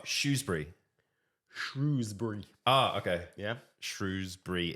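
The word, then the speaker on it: Shrewsbury: shrewbury oh okay yeah shrewbury instead of Shrewsberry okay um happy bruh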